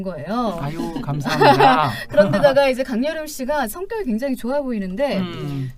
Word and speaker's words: 강여름: 강여름. 네. 강열음으로 이렇게 들리잖아요. 여름. 네, 발음이 음이 또 그렇게 열린다?